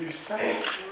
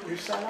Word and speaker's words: Lusala: Et puis vous aussi, c'est Lusala. Lusala. Je vais vous demander si on prononce avec un seul S à la France.